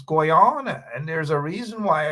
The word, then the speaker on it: Guyana: to talk tell me that I do not pronounce the name properly and that I should be saying Guyana and not Guana and all manner of things. You know, it is what it is though, right? It's Guana.